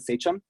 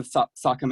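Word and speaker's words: Sachem: of my experience with the seum or sakam as it should be pronounced um I graduated Winchester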